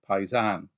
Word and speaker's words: paesano: issue I had with this word paesano, or as my father would have pronounced it, coming from the south, paisan.